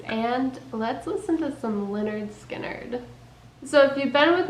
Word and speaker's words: Lynyrd Skynyrd: I was looking at their first album It's pronounced Leonard skinnard and notied I know almost all their songs